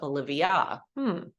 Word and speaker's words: Olivia: the word octopus or your name ends with an a like an apple or Acorn um but in your name it makes kind of a different sound at the end Olivia you don't have to